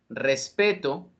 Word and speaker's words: respeto: las sílabas que corresponden vamos a mirar este ejemplo respeto respetó respeto tiene acento prosódico mientras que respetó tiene acento ortográfico una de las palabras